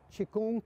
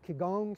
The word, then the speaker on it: Qigong: Qigong, Qigong, c'est des prononciations différentes, mais qui veut dire la même chose.